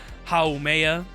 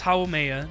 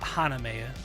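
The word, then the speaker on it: Haumea: pronouncing like for example hao maya it's hawameya not haname it's hao maya uh and then i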